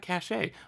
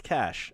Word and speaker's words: cache: just uh or should is that cachet hold on is it cachet noah you're the master of pronunciations i think it's cash i would say cash i i've always said cash i'll stick with that uh but but i